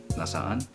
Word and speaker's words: nasaan: double syllable with the nasaan and so you have to pronounce both A's in there is like like where